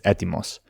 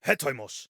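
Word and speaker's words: ἕτοιμος: The modern Greek pronunciation is etimos. Here we finally have a consistent ancient pronunciation. Hetoimos. This apostrophe at the beginning is the H sound, so he, and then the OI diphthong is just oi, so hetoimos.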